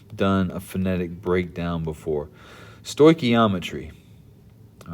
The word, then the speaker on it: stoichiometry: i've never actually done a phonetic breakdown before stoichiometry all right that's how you pronounce this word it's a fancy way of